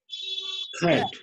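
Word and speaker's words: cat: देखिए किसी अंग्रेज लोग को बोलते हुए कैट, हम लोग ऐसे बोलचाल की भाषा में बोलते हैं ना, कैट कैट बोलते हैं ना, लेकिन वो लोग क्या बोलते हैं, वो लोग का प्रोनाउंसिएशन क्या होता है? खैट। वो लोग कैट, कैट, क और ख का मिक्सअप होता है, ठीक है।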